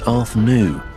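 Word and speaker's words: Artognou: The translation of the name on the slate is pronounced Arthnu. And while there are obvious similarities, that's not the same as Arthur.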